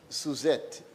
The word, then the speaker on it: Suzette: of Social Security, Miss Suzette, and you have to say it with the accent on the Z.